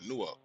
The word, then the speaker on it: Newark: a whole class of how to say Newark. It's one word, Newark. You are saying it right, Springfield. That's 10-4. You got that. Yo, you know, like fork. Say no, fork, no, fork, just like that.